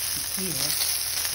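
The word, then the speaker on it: Biquinho: And you can see I'm just picking up the Biquihno.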